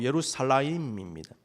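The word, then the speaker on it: ירושלים: 예루살렘은 히브리어 발음으로 예루살라임입니다.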